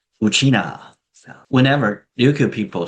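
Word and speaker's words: ウチナー: The pronunciation is exactly the same as how Ryukyu people refer to themselves as Uchina.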